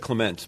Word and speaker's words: Clements: Yeah, he pronounced it Clements, but that's fine. Clements, okay.